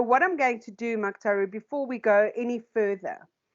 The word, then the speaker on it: Muctaru: I pronounced your name correctly? It's Muctaru.